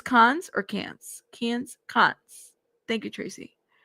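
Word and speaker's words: Cannes: Can is pronounced Can Film Festival or with my uh NYJ axis can just like can film festival.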